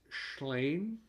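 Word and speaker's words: Llŷn: And pardon my Welsh, but I think it's Schlein. sorry, Schlein. Sorry. It's spelled L-L-E-Y-N. It's another sheep braid. It's a Welsh word.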